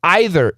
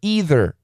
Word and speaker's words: either: area are convinced it's either either either either both pronunciations are fine a sinkhole a sinkhole